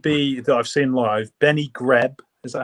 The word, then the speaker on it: Benny Greb: Benny Greb, is that how you say his name? Benny Greb, yeah, he's great.